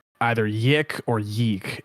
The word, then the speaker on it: YIIK: In my brain, it will always be yeek because the Nintendo Wii taught me that two eyes together are pronounced like weak. However, in the g you have made it canon, the weirder pronunciation of it because because Michael says yik in the game, the right one.